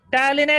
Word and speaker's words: টায়ালিন: কি থাকছে আমাদের দু নম্বরে থাকছে আমাদের টায়ালিন টায়ালিনের এখানে পি দিয়ে পি টা প্রোনাউন্স হবে না ঠিক আছে টায়ালিন টি ওয়াই